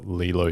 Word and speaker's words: Leelo: sounds cool all right let's just spell Lilo different because Lilo and Stitch is like Lilo so let's spell it l-e-e-l go to the show